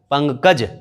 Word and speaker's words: पंकज: तो क्या होता है अगर आप रोक करके इसका उच्चारण करेंगे? प अंग कज, पंकज। ओके, तो पहला नियम जो है ये आप समझ गए, इनको ऐसे जानने के लिए।